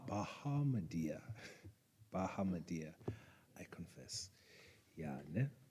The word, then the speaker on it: Bahamadia: Bahamadia. Bahamadia.